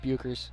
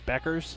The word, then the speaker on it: Buchers: the team like Paige Buchers. Yeah. Isn't it Beckers? Or Beckers, excuse me. There you Beckers. go. Paige Beckers. Her name is spelled weird, so I always forget how it's said.